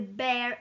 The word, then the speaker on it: bare: verbs, and plus the bare infinitive. Pay attention to the pronunciation, not beer, because beer, it's an animal. Bare, bare infinitive.